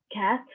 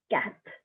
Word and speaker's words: quatre: 2 is deux, 3 is trois, 4 is quatre, 5 is cinq, 6 is six, 7 is sept, 8 is huit, 9 is neuf, 10 is week. Again, I'm gonna repeat them. Un, deux, trois, quatre, cinq, six, sept, huit, neuf, dix.